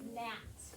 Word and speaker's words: gnat: 3 going down is gnat.